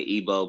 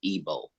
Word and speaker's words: Igbo: go um I say ebo because that's how you correctly pronounce it a lot of people don't know that there's a g there but uh according to